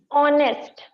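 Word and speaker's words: honest: फिर ऑनेस्ट, ऑनेस्ट की spelling भी क्या होती है?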